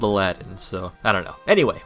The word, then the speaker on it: Aladdin: It's pronounced Arajin, but it's spelled Aladdin, so I don't know.